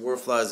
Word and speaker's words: Warflies: I think it is pronounced Warflies. It's an area near Broderpool. We call it Warflies.